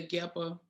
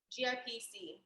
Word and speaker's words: GIPC: can you explain the geppa to them yes so um ghana um actually i'm saying it wrong it's um gip gipc so gun investment and